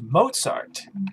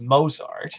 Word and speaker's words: Mozart: That should be pronounced Mozart, as many of us know, not Mozart, as Tom says.